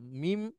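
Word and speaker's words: ما: ছিল সেখানে আমি একটা মিম আর সাথে একটা আলিফ এটার উচ্চারণ হচ্ছে মা একটু লম্বা করে বলতে হয় মা নিয়ে আসলাম তখন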